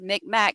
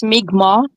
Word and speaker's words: Mi'kmaq: I know it's not pronounced Micmac, and they get really mad when you say it like that, so I do apologize about that. It's Mi'kmaq.